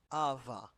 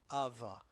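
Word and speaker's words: ⲁⲃⲁ: alpha vita vita alpha ava ava which means abba and this is the title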